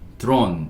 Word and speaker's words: drone: 자, DRON이 D는 D, R은 리을, O는 여기서 오, N은 니은, drone, E는 묵음이죠.